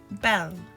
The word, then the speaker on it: belle: like this ah me Belle beautiful in French you say it like this Bell bonjour hello in French